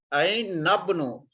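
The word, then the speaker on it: أَيْنَ ابْنُ: Ain nabnu. This noon we will read with the ba. Ain nabnu. With this alif we will not pronounce this one.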